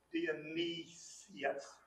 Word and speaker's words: Dionysius: And you get this D and I you can put together, Dionysius.